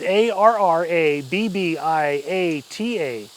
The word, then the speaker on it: arrabbiata: raus homemade re RB otta how do you pronounce that again it's a RR a BB IATA arrabbiata it's it okay basically it's a spicy